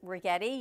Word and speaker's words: Rigetti: So big thank you to Rigetti. You can never forget her name because she told us it rhymes with spaghetti.